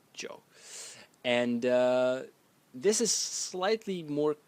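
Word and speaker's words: 九: The next character is number 9, and it's pronounced Zhou. Zhou. In the third tone, Zhou.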